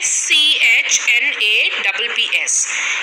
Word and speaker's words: schnapps: We have schnapps. Now, SCHNAPPS. It's pronounced as schnapps. It's a German drink made from grain.